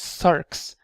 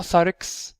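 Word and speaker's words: ⲥⲁⲣⲝ: So it's Sarx, not Sarix, because you know in a lot of hymns people say in Sarix in event, there's no X, there's nothing here.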